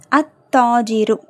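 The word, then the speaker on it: التاجر: கதவு the door அடுத்து அத்தாஜிரு அத்தாஜிரு லாம் உச்சரிக்கப்படல ஏன் தாங்குறது ஷம்சியாவுடைய எழுத்து.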